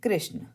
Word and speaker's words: कृष्ण: कृषक है, हमने कृष्ण बोलते हैं, कृष्ण, तो हम इसको री ही पढ़ेंगे और ये हमेशा नीचे